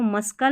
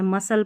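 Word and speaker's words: muscle: C silent रहता है, जैसे यहाँ पर देखिए इसको मस्कल नहीं पढ़ते, मस्कल नहीं पढ़ते, तो यहाँ पर देखिए SCLE ये वाला कॉम्बिनेशन रहता है ना, SCLE, तो यहाँ पर हमारा C साइलेंट रहता है, मसल पढ़ेंगे इसको, ठीक है।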